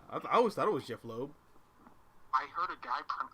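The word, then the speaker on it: Jeph Loeb: that's weird yeah I always thought it was Jeff Lowe I heard a guy from I kid you not I heard a guy pronounce it uh Jeff Loeb and I was like nope that's not how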